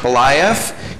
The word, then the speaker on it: Beliaeff: Beliaeff.